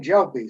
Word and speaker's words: Gelpi: Okay, so I'm Gelpi, soft G.